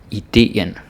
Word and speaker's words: idéen: really funky and slangy, but seriously, idéen, it's two syllables. Even if it's the same syllable, the same letter, the same vowel, you gotta say it in two syllables. You don't contract it like you might in English or something like that. We don't do that.